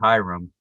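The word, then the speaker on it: ihram: white cloth is called the ichram or phonetically hiram so you become hiram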